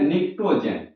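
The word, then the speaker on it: pnictogen: इसको और एक नाम कहते हैं निकोजेन इसमें पी आपका साइलेंट रहता है लिखाता पी से है एन आई सी ए के टी ओ जी एन निको जेन और वर्ग 16 का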